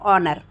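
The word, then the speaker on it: honour: नहीं हो रहा है ओनर की स्पेलिंग क्या हो होती है एच ओ एन ओ य आर लेकिन हम क्या पढ़ रहे हैं ऑनर ठीक है ऐसे ही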